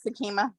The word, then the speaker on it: Sakima: I think Sakima is. I think that's how you say her name. I don't know. Yes, that's correct, Sakima.